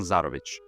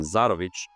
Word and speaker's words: Zarovich: Although, if we want to be technical, the original pronunciation Zarović probably sounds more Eastern Slavic, like Belarus. I think their last names commonly end in ch or ch.